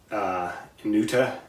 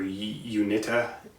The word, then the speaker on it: Uinta: And we go out west to Wyoming, Utah area, and we have I believe it's pronounced Uinta or Uinta deposits within the anticline here.